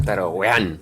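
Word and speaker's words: Tarowean: Yo lo pronuncio Taroguean. Bien, así como como yo. Yo soy un poquito de del Eso es me sale, pero bueno, lo más normal es es pronunciarlo a mitad castellano, mitad inglés que es al estilo,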